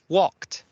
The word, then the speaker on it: walked: Walked. Walk, walked. Sí, hagan sonar la T al final.